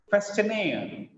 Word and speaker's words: questionnaire: Questionnaire, questionnaire. Look at here, it is not question, it is question, question, questionnaire, questionnaire, employee, employee, guarantee.